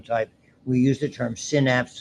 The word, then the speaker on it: synapse: we use the term synapse. Some people say synapse. I was brought up on synapse.